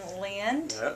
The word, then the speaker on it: Lind: the Nashville hoot Nanny and I'm with Logan Lind did I pronounce that correctly that is correct spell Lind